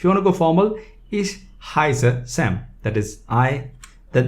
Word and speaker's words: ich: all each is i some german some part of german they call it ik but in in let's say the standard german is called ish so ish heiser that